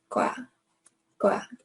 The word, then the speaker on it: 거야: So a strong G here.